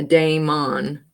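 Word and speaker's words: daimon: which in the Noam it's spelled just like this d a i m o n so it's a d a i m on a Dameon and it's on everything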